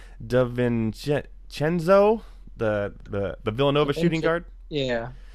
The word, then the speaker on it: DiVincenzo: DiVincenzo, the Villanova shooting guard.